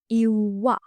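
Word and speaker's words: ඉව්වා: And the past tense is iwa, cooked. Iwa, iwa. Make sure to pronounce the w sound as a long sound.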